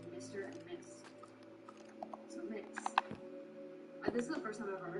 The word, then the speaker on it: Mx: Unabridged in 2016, and it's MX, pronounced mix, and it's to kind of be the honorific functions as a gender neutral alternative to titles like Mr. and Miss. So mix.